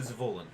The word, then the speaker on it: Zebulon: You are- Abba Zebulon Abramovsky. Yes. Is it? But do you need to know what the Z is? What if you mispronounce it? Because it's really Zvulin.